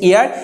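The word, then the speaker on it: heir: ইয়ার শব্দের অর্থ হচ্ছে, এখানে এটার উচ্চারণ কিন্তু হিয়ার না, এটার উচ্চারণ হচ্ছে ইয়ার।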